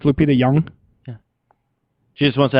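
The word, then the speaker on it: Nyong'o: and the O is silence so it's Lupita young yeah she just wants to have something creative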